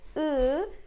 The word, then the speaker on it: ı: I and I, I'm smiling, and when I say ı, it's down. I. As in open or cousin, but we don't have an exact pronunciation in English.